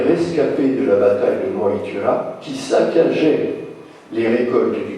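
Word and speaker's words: Mag Tuired: Elle porte le nom de Magtured, il faut prononcer Moitura, et au cours de cette victoire, enfin au cours de ce combat plutôt, les dieux vainquent les démons.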